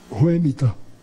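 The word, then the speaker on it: Whemytta: Ela disse, Ruemita. Eu disse, e como é que se escreve?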